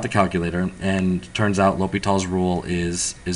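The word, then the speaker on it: L'Hôpital: I know it looks like, La Hospital, but it's just some fancy French guy with some fancy snob name, whatever. So it's pronounced L'Hopital.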